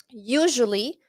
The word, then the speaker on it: usually: That store usually, la S en usually es Z. Usually.